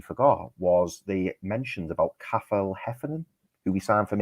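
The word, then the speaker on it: Cathal: It's Kafel Heffernan. Oh, Kafel. Sorry. Yeah. I'd say Kafel. It's one of those Irish names. Sounds like you say Cattle Heffernan.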